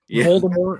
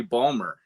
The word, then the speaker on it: Baltimore: know Baltimore Baltimore No, it's actually I'm not I'm not even pronouncing how it's supposed to be. It's supposed to be Balmer.